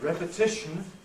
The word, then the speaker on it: repetition: repeat the verb but repetition the noun notice the rhythmic principle forces the first syllable of repetition to be strong and in these cases